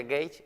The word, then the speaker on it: Gates: escribe gates ha venido se pronuncia gates en inglés gates ha venido en